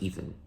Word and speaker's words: Eythen: A fun fact: my name is spelled Eythen, because my name is Ethan.